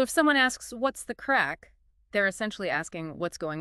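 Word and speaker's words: craic: hard as it looks it rhymes with crack and it basically means fun enjoyment good times you know so if someone asks what's the crack they're essentially asking what's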